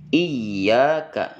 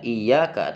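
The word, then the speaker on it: إِيَّاكَ: bertasdid atau wau bertasdid iyaka Jangan dibaca iaka tapi iyaka ditekan sejenak baca dengan dua harakat setelah ditekan iyaka ya jangan iyaka tapi iyaka kemudian na'budu na'budu Ain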